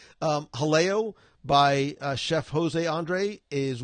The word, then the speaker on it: Jaleo: Jaleo, is it Haleo? Like you don't pronounce the J's, I think. Haleo by Chef Jose Andre is one that I'm looking forward to.